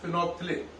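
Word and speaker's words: phenolphthalein: इसमें एल और एच जो है वो साइलेंट है। बात समझ में आ रही है कि नहीं? तो नाम है इसका फिनोप्थिलिन।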